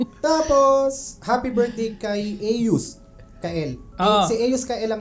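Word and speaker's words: Aeos: Aus. Ah a e o s. Paano? Paano pino-pronounce? Aus.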